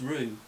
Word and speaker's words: Ryu: I think it's rue, as in you rue the day, based on the comments.